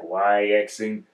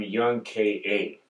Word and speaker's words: YXNG K.A: Like, I always was like, YXing. This dude said, I'm Young K.A.